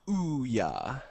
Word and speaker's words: Ouya: don't believe in the ouya so it's pronounced ooh yeah yeah oh yeah like